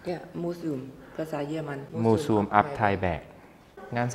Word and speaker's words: Museum: But Gene can't read Ab-Tai-Baek Ab-Tai-Bak / Um, it's pronounced Mu-Sum, right? Yes, moo-zoom in German, moo-zoom-ab-tai-baek.